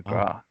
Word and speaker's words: McGrath: I'm McGrath, but in Mhm. Ireland they would never say McGrath. The TH is never pronounced. It's Oh, McGrath every single time.